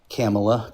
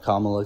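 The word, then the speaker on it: Kamala: Camela Kamla, excuse me. No, no disrespect. I'm a little southern so I pronounce it wrong.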